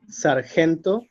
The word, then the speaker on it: sargento: Calle, sargento, resumen. Okay, so if you notice, these words, also like tesis, caravana, cabo, they have the strength in the penultimate syllable, the second to last syllable, right?